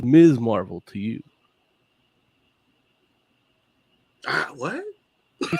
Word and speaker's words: Ms. Marvel: not when you spell them right but it's pronounced ms marble for this case even carol danvers said that it's ms marvel to you ah what she said that one when they called her miss marvel but it's miss marvel don't make no assumptions